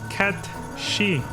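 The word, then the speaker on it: Cait Sith: gelic thing and it's supposed to be pronounced K she it's spelled Kate Sith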